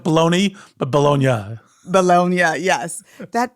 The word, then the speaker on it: Bologna: Am I pronouncing that correctly? Bologna. It's like bologna, but Bologna.